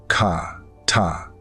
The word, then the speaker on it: חטא: The Hebrew word is chata, pronounced ka ta.